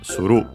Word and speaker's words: suru: So yeah, it's simply the honorific form of suru. Suru, unaccented, to do, the most common form, but yeah, we have this honorific one, nasaru, I think accented, yes, accented.